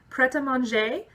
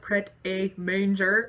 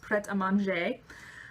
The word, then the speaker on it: Pret A Manger: meal deals and snacks preta manje that's how it's pronounced it looks like pret a manger if you're gonna be like weird and American about it but it's a French